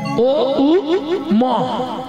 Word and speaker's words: ওম: মন্ত্র বললেই প্রথমেই ওং ওম যেটাকে আমরা ওম বলি কথাটা তো ওম নয় ওম ও উ ম ব্রহ্মা বিষ্ণু মহেশ্বর এই